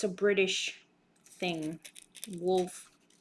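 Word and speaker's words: Wolff: it's a British thing wolf but it's spelled w-o-l-f-f those are very nice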